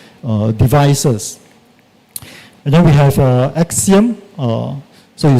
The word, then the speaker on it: AXIEM: And then we have Axiom. So you spell it as AXIEM.